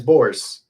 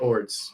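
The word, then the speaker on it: Bors: And no, it's not Ords. It's Orbs, something like that. Boars. It's Boars. His name is Boars, not Ords.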